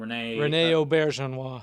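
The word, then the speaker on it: René Auberjonois: Rene Auberjonois.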